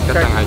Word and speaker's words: kacang: Ice kacang.